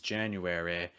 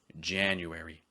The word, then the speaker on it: January: It's not pronounced as January, it's January.